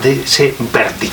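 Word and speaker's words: Berdychiv: una ciudad de que se llama verdey debe pronunciar verdev verdev josep conrad fue un hijo de un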